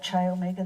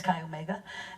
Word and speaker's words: Chi Omega: in Chi Omega and I said chai Omega the other day and I was that's wrong I just mispronounced it it's guy Omega in Florida he in